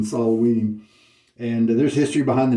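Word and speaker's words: Samhain: any more labels for they actually say sam Hayne instead of the true pronunciation salaween and there's history behind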